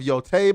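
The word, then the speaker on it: Yōtei: He says it's pronounced Ghost of Yotei, by the way.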